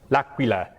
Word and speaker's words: L'Aquila: How do you pronounce that, Alessandro? L'Aquila.